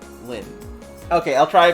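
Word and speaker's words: Lynne: you for your name I was pronouncing it but then people told me to pronounce it like things like so that's what I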